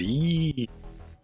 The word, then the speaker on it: Yi: And the sound is yee.